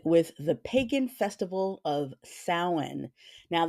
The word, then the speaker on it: Samhain: So let's get started with the pagan festival of Samhain. Now that's spelled Samhin. That's Celtic.